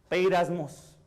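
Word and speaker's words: πειρασμός: está pero en griego la palabra griega se pronuncia hacia arriba lo tenemos beiras mos esa palabra en la palabra que quiere decir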